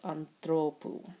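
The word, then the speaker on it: ἀνθρώπου: But as soon as the last syllable changes to oo with that long diphthong, then the accent needs to get pulled forward to the penult, anthropou.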